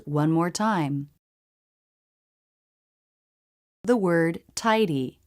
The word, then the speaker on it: tidy: The word tidy. Here the D comes after a diphthong and before a vowel, so it's a flap D.